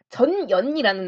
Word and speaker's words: 전연: 그래서 요때 고국원왕 때 전현이라는 나라가 발음 주의해주세요, 여러분. 부모님이 들으시고 욕인 줄 오해하십니다. 전연이라는 나라가 선비족이 세운 나라인데 세력을 넓히는 와중 속에서 만주 지역 중심으로 넓히다가 고국원왕이 고구려 쪽으로 침공을 하게 됩니다.